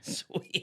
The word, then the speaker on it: Swea: Swee. Okay. Oh, wow. Wow. All right. Whoops. Imagine my thinking of your mispronunciation of Sue.